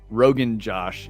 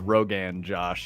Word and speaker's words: Rogan Josh: It's not Rogan Josh. It's Rogan Josh.